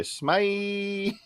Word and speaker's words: SMEYE: But yeah, that's really just it, Or as Vince from Pop and Duo would say, SMEYE.